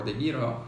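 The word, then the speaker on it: DEGIRO: Interactive Broker um or the Giro they or the hero as you pronounce here in Europe um don't go for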